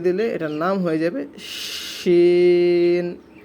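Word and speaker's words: شين: তিনটা নোক্তা দিয়ে দিলে এটার নাম হয়ে যাবে শিন, শিন। সকলে উচ্চারণ করুন, শিন, শিন, সিন, শিন, সিন, শিন।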